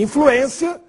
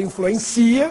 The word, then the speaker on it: influência: E influência, para não ler influencia, que é verbo, influência tem circunflexo no E.